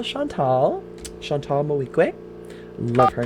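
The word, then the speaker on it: Moreau: clues in all right let's call chantal chantal mohique i love her name which of course i just recently learned how to pronounce it because i was calling her chantal my week and that's not it usually these silent but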